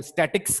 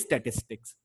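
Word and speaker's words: statistics: कोई इसको स्टैटिस्टिक कह देता है, कोई स्टैटिक्स कह देता है। तो बेसिकली इट इज स्टैटिस्टिक्स।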